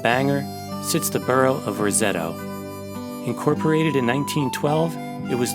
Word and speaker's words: Roseto: the south end of Rosetto pronounced Rosetta by its residents since the church sits